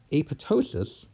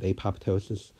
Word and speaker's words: apoptosis: ptosis so the term a pitocin is correctly pronounced when the second P is silent yes of course people understand you if you said apoptosis but that is not